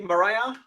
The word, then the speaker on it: Marije: you very much so did I pronounce your name correctly Mariah is that is that the wrong pronunciation yes perfect perfect wonderful uh so Mariah